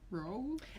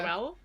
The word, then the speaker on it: Rowell: but not Rowell. obviously not towel. Like Rowell. I think I just broke the word up into 2 lots, so row and well. Rainbow Yeah. Rowell.